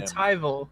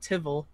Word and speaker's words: Elturel: I switch over to tyel which is how it's pronounced it's not tivel as one person thought I won't name names um but it's tyel he is lacks confrontational